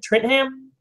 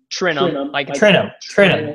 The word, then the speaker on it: Trentham: Trentham? Trentham. Trentham.